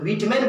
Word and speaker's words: Whitman: तो WHITMAN को व्हाइट में नहीं विटमैन बोला जाता है, वाल्टर विटमैन।